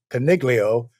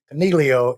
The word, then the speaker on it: Coniglio: Now, many of y'all may know him as Coniglio, since you have the American pronunciation, but we've agreed Coniglio is the proper Italian G silent pronunciation.